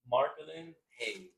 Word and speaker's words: Marcolen Hayes: Marlin Hayes. Marquin Hayes.